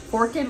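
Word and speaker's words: Forked River: Forkid River is how they pronounce it. It's spelled Forks, but it's we're when the locals says Forkid, that's what we say.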